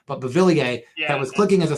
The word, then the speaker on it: Beauvillier: Beauvillier. There it is. I always look at his name and don't want to say it right, but Beauvillier, that was clicking as a second line.